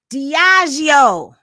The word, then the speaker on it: Diageo: Diageo, between Diddy and Diageo, has been the topic of conversation.